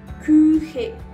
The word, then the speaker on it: Küche: Si de pronto se te dificulta pronunciar la U con un umlaut, que son los dos punticos de arriba, vas a hacer el siguiente ejercicio. Vas a pronunciar una I, pero vas a hacer la forma de una U con tu boca, de manera que suene U. U.